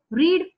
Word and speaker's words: read: Now remember, there are some verbs in English, like this is a very typical example. Read, read, read. Everywhere it is read, but the pronunciation changes. Okay. See, I read novel.